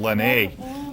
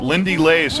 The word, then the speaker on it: Lindy Lays: I had renamed him Lene. But Lindy Lays, a North Quincy kicker, who's a talented young guy in his own right.